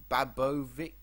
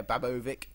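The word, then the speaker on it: Babović: is good for versatility stefan babo babovic that's how you say his name yeah babovic what a name uh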